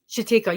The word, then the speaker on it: Chatika: I think I'm saying it right? Chatika? Chatika. Yeah. Yeah. She told me that I was saying it correctly.